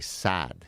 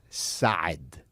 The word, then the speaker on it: Saad: Okay, so for example, my last name, all Americans will say Saad. You just extend the A. But the proper way to say it, it's Gad Saad.